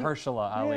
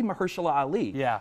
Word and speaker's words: Mahershala Ali: I can never pronounce Mahershala Ali. Mahershala Ali.